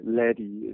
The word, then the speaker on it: Ledi: Ledi is actually a slightly more correct pronunciation.